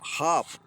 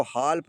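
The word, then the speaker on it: half: इसको हाल्प नहीं पढ़ेंगे। इसको हाफ पढ़ेंगे।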